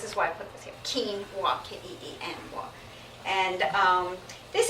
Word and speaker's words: quinoa: two grains called millet and quinoa quinoa is pronounced this is why put this at keene want can't eat anymore and this is from the